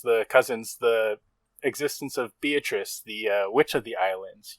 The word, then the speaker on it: Beatrice: islands, because the witch Beatrice is going to get you, or Beatrice, as Kinzo it's the Italian pronunciation.